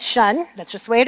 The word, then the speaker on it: tion: So, they need to just know that every time they see it, it's shun.